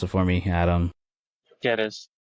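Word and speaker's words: Gyökeres: Jokeres. Jokeres. Greek. G is Okay, silent.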